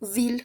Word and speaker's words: ville: A pesar de que se que se escriba con i L e se pronuncia como ville, con una l.